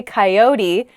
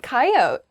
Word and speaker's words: coyote: example uh um sure the next word is coyote I say coyote how do other people say this word K coyote oh yeah coyote I don't say that a coyote is kind